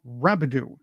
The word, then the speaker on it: Rabidoux: I hope I have your name pronounced correctly. Rabidoux.